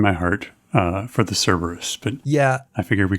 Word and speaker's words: Cerberus: since we've talked about cerberus enough or kerberos depending on how pretentious you want to be um whether or not you put a hard c on that i should point out